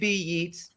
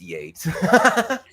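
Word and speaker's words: Yeats: The first being, oh wait, it's Yates, not Yates, right? I'm talking to an artist and well, you know, like WB Yeets, it's Yates.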